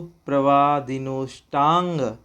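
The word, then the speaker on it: प्रवादिनोऽष्टांग: ये जो आपको एस जैसा दिखाई दे रहा है, इसका कोई उच्चारण नहीं होता।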